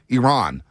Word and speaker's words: Iran: Iran. It's Iran, not Iran, everybody. Iran, as that Iranian journalist checked one of the USA players, said, it's not Iran, it's Iran.